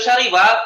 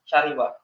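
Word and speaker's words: شَرِبَ: Fiil syariba artinya minum. Artinya minum. Ini ikut wazan fa'ila. Ini ikut wazan fa'ila. Jadinya apa bacanya? Syariba. Syariba.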